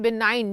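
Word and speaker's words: benign: चलो बिनाइन, इसको हम बोलते हैं बिनाइन, जी जो है वो साइलेंट होता है।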